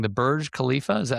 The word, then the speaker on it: Burj Khalifa: worked on the, may say it wrong, the Burj Khalifa, is that how that's pronounced?